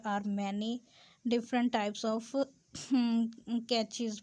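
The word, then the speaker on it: cache: many different types of catches pronounced like cash in computer but they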